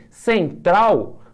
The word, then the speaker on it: Central: Portuguesa sim é paroxítona porém Central tem duas sílabas e é uma palavra oxítona então aqui é um